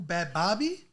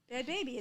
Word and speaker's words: Bhad Bhabie: made you is it bad baby the H is silent is it well yes